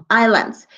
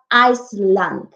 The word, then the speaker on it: island: Some people used to make mistakes when pronounce this little word. It's not Iceland. Iceland es un país. Yo sé que se lee Iceland. Pero la pronunciación correcta cuando me refiero a una isla es island, porque Iceland es un país, ¿ok?